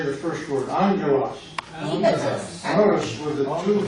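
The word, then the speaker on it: ἄγγελος: Let's say the first word, angelos. 第一个字， Notice with the two gamma, the first is like an ng, angelos. It's not angelos, but with two G's. First gamma is ang with an ng, angelos. Explain one more time.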